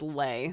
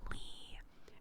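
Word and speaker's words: Leigh: entire life it was lay so people would be like ah lay what an interesting last name be like it's pronounced Lee and then once I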